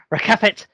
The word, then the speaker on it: Rakefet: I am here with Rakefet. The sneeze thing worked. If you say my name like a sneeze, you can remember how to say it.